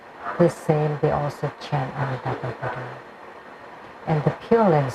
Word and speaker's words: Amitabha: But actually, it should be A. Because A would be closer to the Sanskrit syllables, like A from the A. So it should be chanted as Amitabha and not Omitaba, because the Omitaba is from the movies.